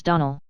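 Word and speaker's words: Donnell: morning connected with the Donal children Clarice alir told me that you pronounced our name Donal now Miss Shirley the correct pronunciation of our name is Donal Accent on the last syllable I hope you'll remember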